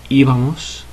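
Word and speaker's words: íbamos: go was going nosotros iva-mos iva-mos now the stress is over this first letter here the first I so we put an accent on it it's on d not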